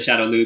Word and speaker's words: Shadaloo: It's thought they're called the Shadaloo because of a mispronunciation from Japan, basically.